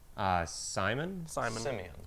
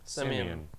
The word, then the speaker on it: Simeon: son also, and he has called his name Simon. Simeon.